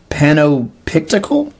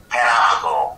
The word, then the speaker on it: Panoptical: And now, Panopictical? Panoptical. Whoops. Totally butchered that.